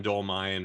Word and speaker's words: Dolmayan: man I am so excited for this John dolmine from System of a Down and I should have asked you for I'm pronouncing it right right you got it awesome